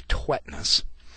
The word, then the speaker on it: Tvedtnes: Tvedtnes. He says to pronounce it Tvedtnes. I've always called him Tvedtnes, and he hasn't been offended yet. So, John, I'm going to call you Tvedtnes.